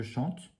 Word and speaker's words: chant: Et d'ailleurs, le nom, le chant, on ne dit pas le T à la fin.